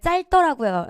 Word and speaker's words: 짧더라고요: 짧더라고요 했어요. 짤짤 리로 발음해야 되죠. 짧더라고요. 이렇게 발음해야 돼요.